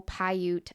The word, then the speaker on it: Paiute: And according to the local Paiute, I said it right for the first time.